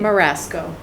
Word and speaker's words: Marasco: uh charlie in attendance are all of us and um marie how do you say your last name marasco maria marasco which is she's on the agenda